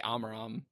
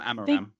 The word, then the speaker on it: Amaram: I think mine do switch, because I don't know, but I'd probably say Amaram. I don't know. I'm Amaram.